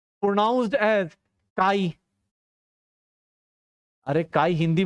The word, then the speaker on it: chi: इसको प्रोनाउंस करते हैं, प्रोनाउंस्ड एज काई।